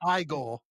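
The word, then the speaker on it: Igor: It's pronounced Igel.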